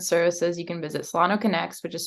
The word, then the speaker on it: Connex: health resources and services you can visit Solano connects which is spelled c-o-n-n-e-x dot org bye thank you so